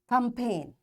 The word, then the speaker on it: campaign: So this G is silent and we'll say it design for sign a line resign a sign rain clone campaign campaign.